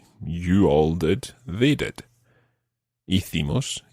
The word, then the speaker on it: hicimos: And that's spelled H-I-Z-O. Hizo. Hizo. Now, the we form is hicimos.